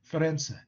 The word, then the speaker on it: Firenze: in italy right uh but in english florence actually in italian it's ferense ferenze and you know milano